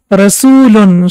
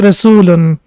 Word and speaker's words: rasulan: it's wow basically but the sound we can see is ooh sound and it will be rasoolan so we can see over here that it is pronounced for almost two seconds the first one was for one second and now we can see that u sound is pronounced for two seconds and normally around has dhamma before it as we can see over here so it becomes long dhamma so it will be rasulan so the second one